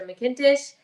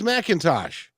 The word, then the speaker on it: McIntosh: in taste the girl and my name mckintish um you can find it on amazon uk